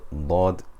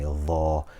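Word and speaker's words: ضاد: unique to Arabic, and it should not be pronounced as the way we do in general conversation or in Ammiya. Often instead of saying dad, we will say dha or za, bizabt or bilzabt, for example.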